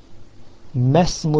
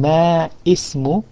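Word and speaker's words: ما اسم: In the second sentence it says ismu al-mudarrisi hamidun masmu al-mudiri. Instead of saying ma ismu, you say masmu, because before ismu, ismu begins with hamzatul wasl e, but before that there's another word ma.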